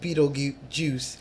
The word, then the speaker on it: Betelgeuse: red star in Orion's constellation which is called Betelgeuse nice well it is spelled be ete LG e use2 juice so